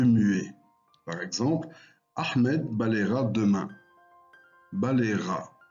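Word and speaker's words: balaiera: Par exemple, Ahmed balayera demain. Balayera. On n'entend plus le E, il est devenu muet et le Y est changé en I.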